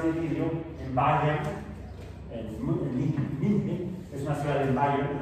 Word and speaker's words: München: Bueno, ahí se escribe, en alemán se pronuncia München.